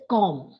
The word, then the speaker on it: comb: hair com it is com com so whenever you have have that combination MB MB you have to drop the sound of B like what is this